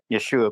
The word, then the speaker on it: Yeshua: Yeshua?